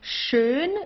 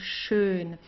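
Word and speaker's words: schön: like that okay so shun is nice or beautiful shun here you have an S CH it's pronounced exactly the same way as the sh in in English Okay like to shine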